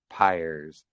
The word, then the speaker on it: Pyers: But it's it's pronounced Pyers. Pers. Okay. Yeah. I I tell people it's like pliers without the L.